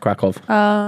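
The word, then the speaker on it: Kraków: Yeah, it's spelt with a Y, but it's pronounced Krakow.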